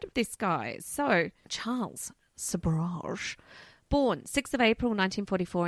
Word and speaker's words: Sobhraj: Well, Charles Sabra. Yes, Sabra.